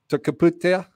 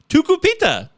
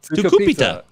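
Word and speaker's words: Tucupita: I know I'm not pronouncing this right, but it's Tukaputia. Marcano, that's nowhere near right. I think you're making it harder on yourself. Yeah, it's Tukupita. Tukupita. Say it with me.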